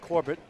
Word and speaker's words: Corbett: Bernie corbert Corbett it's Corbett I'm sorry corber they put l on here it's pronounced Corbett y they spelled it